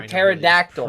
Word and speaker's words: pterodactyl: it's called P for pterodactyl because the p is silent it's the worst alphabet